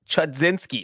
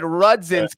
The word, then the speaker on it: Chudzinski: got the name wrong was roger chudzinski i said oh schedzinski i said i said rudzinski because i got the